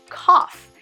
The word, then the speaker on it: cough: The word cough has a GH at the end, but let's just pretend it's a double F, cough. So just like the word rough, GH makes an FF sound.